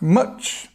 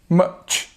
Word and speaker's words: much: a quick look at much and how you say it. Much. This is the it's a very strong sound, like up, an umbrella. Much. Then we have this ch sound at the end.